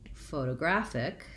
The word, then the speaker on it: photographic: In photographic, we do have secondary stress on my first syllable, pho, so I use my clear O. So photo, again another O, graphic.